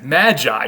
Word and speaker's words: Magi: in greek and then the latinized version of magoy is we would pronounce it today as magi so you may have